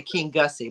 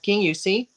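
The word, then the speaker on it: Kingussie: it's spel if you spelled it it say King Gussy but it's pronounced King although there was some controversy with me and Dave on that it's pronounced King yusi uh and his nickname is King yusi Kong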